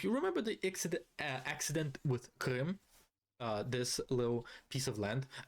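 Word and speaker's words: Крым: If you remember the accident with Krim, this little piece of land, being Russian myself, I can pronounce it the way that it's supposed to be pronounced.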